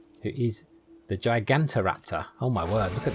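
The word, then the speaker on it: Gigantoraptor: look at that thing let's make sure I pronounced it right gigant Raptor yeah there we go good hold look we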